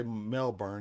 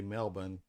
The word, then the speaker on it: Melbourne: Angel Gober Goan H y'all don't say melbour you say Melbourne and this is not